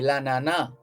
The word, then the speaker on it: l'ananas: And in French, it would be l'ananas. L apostrophe A-N-A-N-A-S, but the S would be silent at the end there.